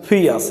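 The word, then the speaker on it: fierce: एफ आई ई आर सी, फियर्स. यहाँ पे आर को साइलेंट माना गया.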